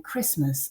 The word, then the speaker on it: Christmas: also think about as a silent letter for example the t in christmas or the first d in wednesday but we won't include